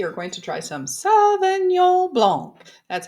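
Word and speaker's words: Sauvignon Blanc: Today we are going to try some Savon Blanc.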